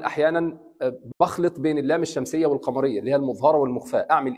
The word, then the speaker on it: والقمر: والقمر. نطقنا اللام ولا لا؟ نطقناها. والقمر. Because of this sukun, I would say والقمر.